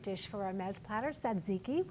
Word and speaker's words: tzatziki: All right, let's whip up a tangy yogurt dish for our mez platter, tzatziki, which we tend to pronounce as tzatziki in the United States.